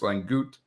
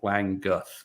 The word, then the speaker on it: Languth: It is Langeth. Now, if you go with the traditional, Northern German pronunciation, it's Langut. But I have always pronounced it, and the family has always pronounced it Languth. So there's not an S at the end. It's just Languth. Languth. Languth, not Lunguth.